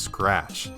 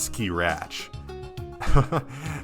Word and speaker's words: scratch: Also, it's pronounced scratch, not ski-ratch.